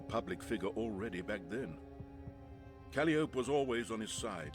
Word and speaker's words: Calliope: It's definitely pronounced Calliope.